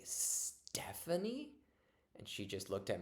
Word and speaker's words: Stephanie: always think of one of my students was mispronouncing the word Stephanie. She would say Snephanie, and but we knew she could actually make the T sound. So one day I just said, "Oh, can you say Stephanie?"